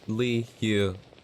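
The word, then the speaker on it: Liyue: in the game is liue or in other words that one region nobody knows how to pronounce just you know it's lee hue treated like three letters their element is geo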